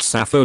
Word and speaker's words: SAPHO: eponym Sappho is pronounced Sappho like the name of the ancient Greek poet Sappho whose concise intense lyric